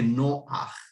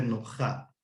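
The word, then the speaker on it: נח: Eso no se lee como se debiera hacer ruja, sino es ruaj, igual que noaj. aunque se escribe Noja, son excepciones a la regla.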